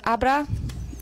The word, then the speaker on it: Abra: it's Abra. That's how you pronounce this. ABRA.